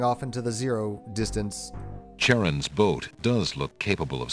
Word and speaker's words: Charon: And they pronounce Charon correctly. I love it. A lot of people just pronounce it Charon or something like that.